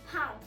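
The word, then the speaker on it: पाँव: In Hindi, we can actually pronounce leg in 2 different ways. One is pair, P-A-E-R, pair, and the other one is pao, P-A-A-O-N, pao.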